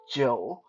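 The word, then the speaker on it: 酒: drink uh in mandarin the word for alcohol is joe joe j o you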